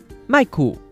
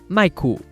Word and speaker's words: mài-kù: So how do you say a microphone in Tâi-gí? mài-kù. mài-kù.